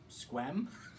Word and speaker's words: Sequim: Sequim? I'll give you a hint. It's one syllable. Squim? You're really close. It's squim. Squim? Yeah, like you're swimming, but with a Q as well.